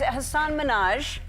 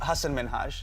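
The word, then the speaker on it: Hasan Minhaj: And it's Hassan Minaj. Yes. No. Really? Well, my name is Hassan Minaj.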